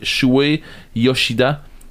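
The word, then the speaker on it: Shuhei Yoshida: Je pense pas de le prononcer comme il faut, mais Shuei Yoshida, qui se trouve être de Sony.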